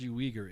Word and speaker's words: Uyghur: So Uyghur. It's pronounced Uyghur. It's UG. Hang on, let me see this.